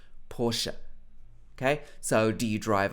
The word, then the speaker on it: Porsche: of people pronounce this porsche in the uk so you will hear a lot of people saying porsche but i believe the correct pronunciation should be porsche with two parts porsche okay so do you